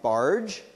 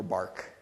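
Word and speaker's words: Bargh: on automaticity um and his name is pronounced barge not bar um or bark uh and so what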